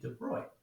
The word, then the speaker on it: de Broglie: a guy named louis de bruy and that is the correct french pronunciation don't say broccoli it's moving to boy